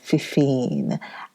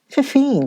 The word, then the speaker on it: Fefine: Yes, the name is Fifine. I pronounce that Fefine and her cat.